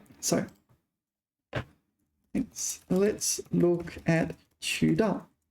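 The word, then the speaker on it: 渠道: 渠道. So let's look at 渠道. Okay, so 渠 is second tone, and I've been getting it wrong.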